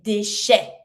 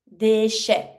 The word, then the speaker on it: déchets: To say waste or trash, les déchets. Déchets. E T makes the A sound. S is mute.